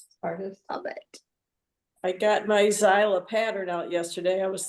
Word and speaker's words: Xyla: It's the same designer, and it's XYLA, Xyla, that's how I pronounce it. Isla.